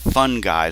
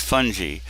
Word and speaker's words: fungi: The proper way to say fungi is not fungi. That's somebody you invite to a party. It's fungi and many proteins.